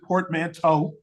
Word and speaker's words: portmanteau: But a portmanteau, some people pronounce it portmanteau because we got the T-E-A-U, it's sort of like plateau, but I like to call it portmanteau.